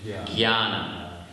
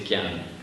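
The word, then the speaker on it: ज्ञान: exception in Sanskrit that you don't actually pronounce it as it's written, and you pronounce it with a gya, jnana.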